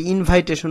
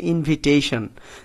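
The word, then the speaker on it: invitation: official ইনভিটেশন এইটার প্রোনাউন্সিয়েশন অনেকে ইনভাইটেশন বলে এইটা কিন্তু ইনভাইটেশন না এটার উচ্চারণ হচ্ছে ইনভিটেশন তাহলে অফিশিয়াল ইনভিটেশন মানে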